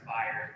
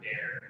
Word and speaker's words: Bayern: who've been here forever, it's pronounced Bayern, not Bear.